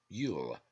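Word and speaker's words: Luil: churchtum cannot remove it it is yule l-u-i-l pronounced yule a jew why does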